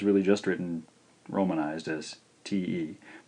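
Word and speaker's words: て: This one's really just written romanized as T-E. Pronounced te, te. This is also a single stroke. Starting again in the upper left quadrant, over, and then looping back around. Te, te.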